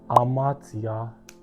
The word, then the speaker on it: hamartia: Pronounced hamartia, which means to miss the point or the target.